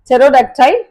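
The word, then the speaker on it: pterodactyl: வர்ட்ஸ்தான் இது போக சாம் நெக்ஸ்ட் வந்து டிஃர் எக்ஸாம்பிள் டெரோடக்டைல் அண்ட் சாமைன் டெரோடாக்டைல் அப்படின்றது வந்து பறக்கக்கூடிய டைனோசர்ஸ் டாமைன் அப்படின்றது என்ன அப்படின்னு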